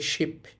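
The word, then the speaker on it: 십: আবার দেখেন এই যে শিয়তের সাথে ই আছে তাহলে উচ্চারণটা স এর মত হবে। উচ্চারণ হবে শিপ।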